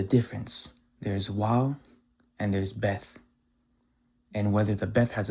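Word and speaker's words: ב: the alphabet as Waw, differentiating it from the Bet, or the Beth, which is the 2nd letter of the Hebrew alphabet. When it doesn't have a dot, it is pronounced as a V. When it has a dot, it is pronounced as a B.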